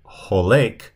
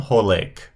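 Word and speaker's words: הולך: That's typically, whenever you have a participle, you'll typically have the OA sound. So notice on the second one here, the holek.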